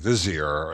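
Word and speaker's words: Visier: partially and and and Dave pronounces the company named Vier as though it were a z it's b i s i e r he was very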